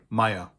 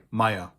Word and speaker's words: Meyer: All of these names that you see here are pronounced exactly the same way in German. Meyer. These names also exist in English, and they exist in Dutch and in Flemish, and they all basically have the same origin, the same meaning. In German, they're all pronounced the same way, Meyer.